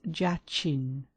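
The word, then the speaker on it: Jachin: in the former degree either by letters or syllables. The word is jain.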